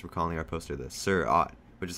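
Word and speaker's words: Seurat: thought my parents were calling our poster this sir ott which is how you pronounce zerat the name of the artist from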